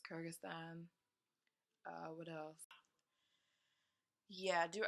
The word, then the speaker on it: Kyrgyzstan: kerbin Kyrgyz CC time I thought you say it Kyrgyz 60-ton its Kyrgyzstan I would have yeah